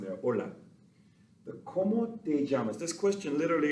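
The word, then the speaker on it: hola: exchange names so the ola of course is how you would say hello or hi notice that the h is silent it doesn't make a sound there ola the komodejamas this question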